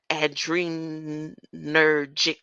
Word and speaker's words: adrenergic: Alpha to an adrenergic receptor.